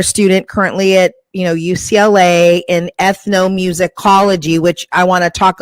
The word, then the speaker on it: ethnomusicology: it's not just ethnos, but it's is it ethnomusicology? Is that how you pronounce it?